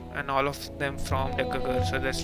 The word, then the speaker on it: Decger: It's Decger. It's like December-ger.